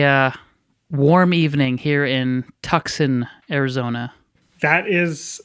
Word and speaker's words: Tucson: going it's a uh warm evening here in Tucson Arizona that is how it's pronounced that's very good yeah yeah that's how